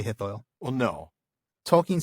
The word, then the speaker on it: Hithoel: it, but he says you can basically just pronounce it OI. So oi, Hithoil. Oh, okay. Oi. Just don't say it in 3 syllables. Don't say Hithoel. Say Hithoil.